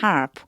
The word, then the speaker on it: half: For a year and a half. 요렇게 쓴다라고 하는 거 알아두세요. 요 half가요. L이 발음이 안 나서 half라고 하거든요.